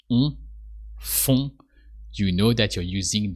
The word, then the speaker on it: font: So with a silent T, just font.